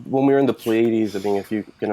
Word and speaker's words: Pleiades: When we were in the Pleiades, I mean, if you can imagine, the Pleiades is pretty quiet.